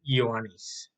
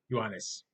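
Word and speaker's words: Iohannes: by uh the line pronunciation of John is yanis yanis not King John just yanis John King of England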